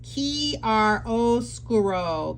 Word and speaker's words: chiaroscuro: But the next one is pronounced Chiaroscuro.